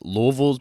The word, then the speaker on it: Louisville: they understand it's LOL yeah it's Louisville no one calls it Louisville it may be named